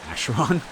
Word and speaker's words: Acheron: We pronounce it Acheron.